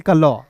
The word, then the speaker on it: CLUE: UE है तो इसका उच्चारण यू के रूप में करेंगे, क्लू। CLUE को पढ़ेंगे क्लू।